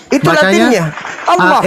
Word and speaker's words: Allah: Bacanya? Itu Latinnya. Allah.